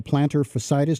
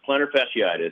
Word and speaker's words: plantar fasciitis: walk a lot but about what to call plantar fascitis did I say it correctly is that pretty common with runners and how can that be treated ah well yes plantar fasciitis it's a disorder of connective tissue which supports